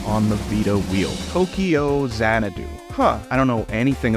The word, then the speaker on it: Xanadu: pronouncing it Tokyo zanadu I am pronouncing it zanadu because a little bit before my time but there was a crazy insane uh disco fantasy movie called zanadoo zanadoo made